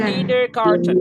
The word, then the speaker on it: kindergarten: Kinder Garten bacanya kindergarten.